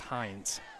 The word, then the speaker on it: Hines: I believe it's pronounced Hines. All right. Like the ketchup.